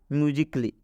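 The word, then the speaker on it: musically: एक एग्जांपल के माध्यम से समझाते हैं जैसे म्यूजिकली इस म्यूजिकली में ए है और ए के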